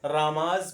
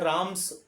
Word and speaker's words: Ram's: तो इसको पढ़ेंगे क्या अपन, जो है रामाज ब्रदर। वैसे बहुत से लोग इसको जो है राम्स यानी एस का भी उच्चारण करते हैं, लेकिन आप लोग जो करोगे वो जो है जा का करोगे, ठीक है?